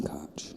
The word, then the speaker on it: Koch: to double dip Mason Koch. Mason's got the point. Yeah, Mason has the point. And I've been pronouncing that wrong the whole time. He made a point of saying pronounce Cook.